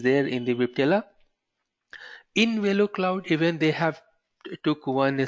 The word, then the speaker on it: Velocloud: So in NSX SD-WAN, but Velocloud is very easy to pronounce here. Velocloud, giving velocity to the cloud or giving acceleration to the cloud.